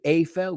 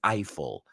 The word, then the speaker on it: Eiffel: got the joke so his name you say AFL we say Eiffel I guess we should ask the French huh we call it